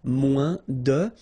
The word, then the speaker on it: moins: Then if you want to say less, it's moins in French, so no discussion about the S here. Don't pronounce it, okay? Moins de, and then you put your noun, que, than, and the rest of the structure.